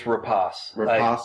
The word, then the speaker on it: Rapace: Rapace or Nomi rachi it's rapas I looked it up just noi rapas so